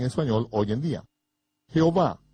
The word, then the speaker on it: Jehová: sueño hoy en día jehová un hombre que se encuentra en algunas versiones de la biblia es una palabra híbrida obtenida de pronunciar las cuatro vocales como consonantes y sumando las vocales de la palabra hebrea arona en que significa señor este cambio deliberado por